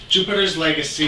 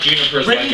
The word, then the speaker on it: Jupiter's Legacy: hit us up with Jupiter's Legacy. He said it right. He got it wrong like 12 times in rehearsal. It's not Juniper's Legacy.